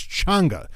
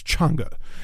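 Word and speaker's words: Chang'e: sorry changer ch cha that's that's how you pronounce it it's changa I I've heard I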